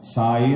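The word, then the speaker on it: ਸਾਈ: साई ये शब्द के उच्चारण च ध्यान देना। साई सस्से नूं कन्ना, ईड़ी नूं विहारी।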